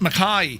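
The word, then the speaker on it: Mackay: McKay is pronounced Mai. I was thinking that the old Australian, right? And on today's flight, we're going to head up to Mai, right?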